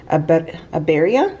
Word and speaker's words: birria: say it wrong, so I have a hard time rolling my R's in Spanish, but it's called a birria, like it's a shredded beef, okay?